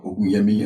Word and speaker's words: Ogunyemi: So my name is Ogunyemi, or Ogunyemi, as we like to, I should say it properly, being of Nigerian descent.